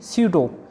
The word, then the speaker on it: pseudo: और एग्जाम्पल है PSEUDO, इसको हम कहेंगे स्यूडो।